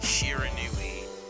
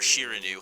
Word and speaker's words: Shiranui: for another video um this is the my shiranu or shiranu how you know depending on how you want to pronounce it Gameplay trailer um I am also